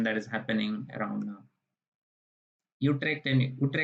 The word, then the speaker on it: Utrecht: Utrecht University, because U is pronounced as U in Dutch.